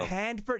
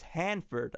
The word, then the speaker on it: Hanford: just like I like is it handford you're not like no it's Hanford I'm like oh okay